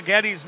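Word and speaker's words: Getty's: every time you stay so Gettys name I get hungry so I hope he's not out on the ice very much tonight because it rhymes with spaghetti and I'm awful hungry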